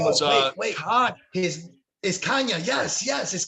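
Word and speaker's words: Canha: uh he was like it's brazilian it's the kind of the double l's in spanish the anya whatever it is and is yeah kanye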